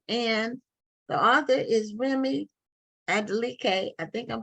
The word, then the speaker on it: Adeleke: Remi Adeleke, is that how it's pronounced? Adeleke, yes, that's good.